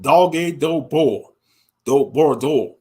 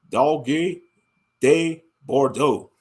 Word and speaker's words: Dogue de Bordeaux: They call it Dogue do Bordeaux. That's how they say it in French, something like that. Let's see. Dogue de Bordeaux.